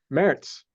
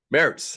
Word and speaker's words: Maerz: don't truly know just say how do you pronounce your last name merits merits okay got it very good uh Corey and